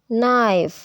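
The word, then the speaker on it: knife: है quick quick quick के जब एन से पहले इस्तेमाल में आता है तो अपनी आवाज को खो देता है जैसे के नो यानी कि अब के साइलेंट हो गया है नो नो नो नो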